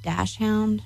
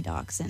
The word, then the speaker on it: dachshund: I guess some people pronounce that dash hound. Yeah, something like that. I say dachshund.